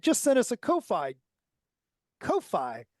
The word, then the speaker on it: Ko-fi: Ko-Fi. Is it Ko-Fi or is it coffee? I think it's pronounced coffee, but it's spelled Ko-Fi donation.